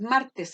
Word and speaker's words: martes: La palabra martes tiene 2 sílabas. ¿Y dónde se carga la voz? El mar. Martes. ¿Qué día soy? Martes. Claro, uno no anda por la vida, como les decía yo, diciendo, ¿qué día soy? Martes. No, uno dice, ¿qué día soy? Martes. Pero se carga la voz en mar. Y como se carga la voz en mar, sería la penúltima sílaba.